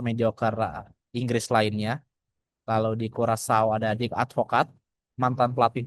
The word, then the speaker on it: Curaçao: Ada Jamaika, Curaçao atau Curaçao dibacanya.